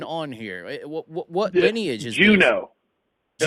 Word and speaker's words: Junod: What lineage is Juno. this? Juno. It's French. Juno, just like Alaska. So it is French. Yeah. Okay, that's different. Juno. So the D is silent.